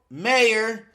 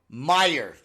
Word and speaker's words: Meyer: uh for this episode Carl mayor and I hope I said that right uh Meer oh I did I said mayor again and I even read it I'm like I'm GNA say it right I'm gonna say it right and I still said it wrong I still Carl Meyer yes not Carl the mayor you guys are making